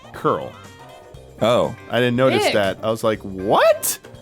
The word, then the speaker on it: Coral: So coral, it's curl.